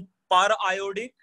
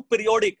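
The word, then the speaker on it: periodic: Simply पढ़ सकता हूं पीरियोडिक, है ना. दोनों का स्पेलिंग तो सेम ही रहेगा. मतलब टेक्निकली मैं उसको पर आयोडिक पढ़ना चाहिए बट उसको पीरियोडिक भी पढ़ सकते हैं ना, पीरियोडिक एसिड.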